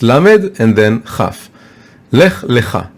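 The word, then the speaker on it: לך לך: Lech Lecha. It's pronounced differently, but if you look at the Torah scroll, you can't see the difference.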